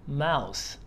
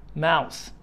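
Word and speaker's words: mouth: اي الفم بقى اسمه ماوس ماوس ماوس واهم حاجه ساوند اللي في الاخر ماوث والذراع ارم ارم ارم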